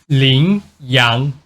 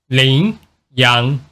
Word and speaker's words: Lingyang: name by the way this name is pronounced this way lingyang lingyang lingyang it literally mean Rising